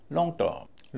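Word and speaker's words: long-term: दूसरे पर ज्यादा लॉन्ग टर्म लॉन्ग टर्म लॉन्ग में कम स्ट्रेस है टर्म पे ज्यादा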